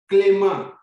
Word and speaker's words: Clément: You see there's accent on the A, so it's an A. Clément.